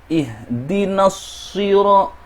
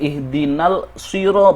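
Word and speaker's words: اهدنا الصراط: Al-shamsiyah di sini menggabungkan huruf lam yang tidak diucapkan ke dalam huruf shad, yang dibaca sebagai ihdinasiro. Setelah na, langsung menuju shad. Itu tidak dibaca sebagai ihdinal siro, itu tidak benar.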